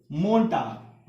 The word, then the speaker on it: Montag: क्या प्रोनाउंस करते हैं इसे, मोन्टाग।